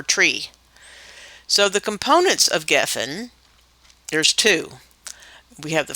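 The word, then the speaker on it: גפן: It's spelled Gimel, Pei, Nun, Geffen. The Pei sounds like a P or an F, and it's Strong's number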